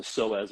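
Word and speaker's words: psoas: say it wrong again the p is silent it's not like the pee and pineapple it's a soaz muscle so ask that's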